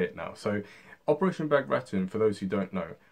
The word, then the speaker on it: Bagration: know how to say it now so operation back return for those who don't know was a very